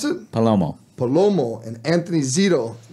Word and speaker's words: Palomo: How do you pronounce it? Palomo.